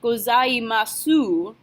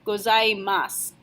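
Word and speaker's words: ございます: ohayo gozaimasu gozaimasu sooo whenever it's the last hiragana and I word you don't pronounce the sound you're just going to end with their s so it's not gozaimasu ooh it's gozaimasu ohayo gozaimasu later on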